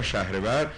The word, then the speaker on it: شهریور: داشت و روز ۲۵ شهریور اشیش وانگ خوانده میشد که روز رحمت خدا اخلاقیات و معنویات و روان پاک بود ماه شهریور یا شهرور تلفظ میشد ماه شهرور یا شهریور